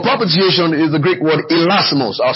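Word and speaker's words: hilasmos: The word propitiation is the Greek word elasmos. I'll spell it for you.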